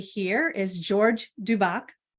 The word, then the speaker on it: Dubec: So this gentleman right here is George Dubec, correct? Did I say it correctly? Dubec.